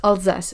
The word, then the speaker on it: Alsace: Okay, I will say it in French because Alsace it's Alsace in French.